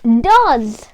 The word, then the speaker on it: does: But we say it as does. Have you realized that? Does. Not does with an S. They say does with a Z.